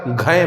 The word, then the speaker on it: घञ्: आइए अब समझते हैं कि घय प्रत्यय होता क्या है। तो देखिए लिखा हुआ है यहाँ पे घय, घ है और य, इसको नाक से उच्चारण होगा य, घय, इसको पढ़ेंगे घय।